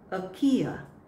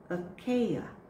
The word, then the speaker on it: Achaia: The next word has two ways how to say it. First one can be Achaia, Achaia, or Achaia, Achaia.